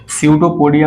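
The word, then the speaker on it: pseudopodia: आप जरूर याद रखिए सूडो पोडिया पीस में साइलेंट है बाकी स्पेलिंग बहुत सिंपल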